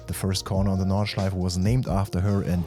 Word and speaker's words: Nordschleife: Okay, so here we go for a lap of the Nordschleife, not Nordschleife or Nordschleife, but the Nürburgring Nordschleife.